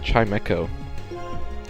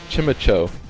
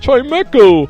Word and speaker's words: Chimecho: What would I say? Chimicho. Yeah, I would say Chimicho. And then I saw one of the anime episodes where James had his Chimecho, and he always said Chimecho, and I was like, oh, it's Chimecho.